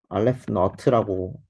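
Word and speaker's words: aleph naught: 이거 그냥 자연수 개수를 나타내는 그 집합론 기호인데 알레프 너트라고 읽어요.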